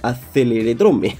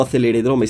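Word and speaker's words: Acceleradrome: de acceleracers en el aceler drome aceler drome no acelere drome siempre lo pronuncio mal en fin Tampoco tampoco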